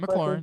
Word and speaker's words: McLaurin: like McLaurin when he scored the am I pronouncing his name McLaurin, correctly?